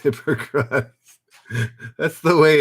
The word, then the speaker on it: Hippocrates: It's pronounced Hippocrates.